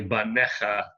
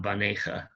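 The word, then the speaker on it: בָּנֶיךָ: like a anyway but this is definitely bannekha not banaca yeah the the yoda is there not for pronunciation but only as an indicator of the plural because if um if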